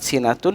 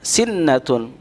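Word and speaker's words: سنة: sini yaitu kalimat sinatun terkadang kita membaca kelewat sinatun dengan sinetron yaitu dengan menerbitkan UU ruknun nya Padahal di dalam kata silatun tidak terdapat tasydid sehingga kita tidak boleh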